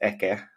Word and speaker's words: Eke: Yeah, that's interesting because it has this like sound, and in my case, it's just Eke. So it's also similar to the Finnish pronunciation.